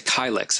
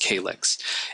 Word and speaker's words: kylix: we see represented here that's a kylix I've also heard pronounced calyx and that means to